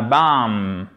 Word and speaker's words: bomb: Et c'est pas BAMB. Vous voyez que j'ai mis une croix ici parce que le B ne se prononce pas. BAM. A bamb et pas a bamb. Non, a bamb en anglais. A bamb. Non, a bamb. A bamb. On n'entend pas la consonne finale.